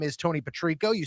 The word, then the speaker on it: Patrico: My name is Tony Patrico. You spell that P A T R I C O baby.